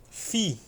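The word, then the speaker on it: φι: Fi. Fi correspondente ao F no português.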